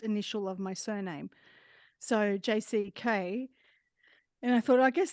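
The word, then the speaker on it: Jacy: and my real name is pronounce JC but it's spelled j-a-c-y and so I made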